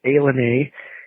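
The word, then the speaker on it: ilani: lenter Washington it's called Alena it is spelled i l a n i I am not sure how they get Al out of that but it must be from the Brett Favre dictionary of pronunciation so anyway it is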